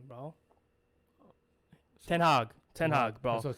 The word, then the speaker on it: Ten Hag: Ten Hag, bro.